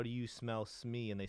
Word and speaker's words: Smee: It's Smee. Smee. So I go by Smee, but Smee. Uber's on this channel. Smee rhymes with tree, and because somebody compared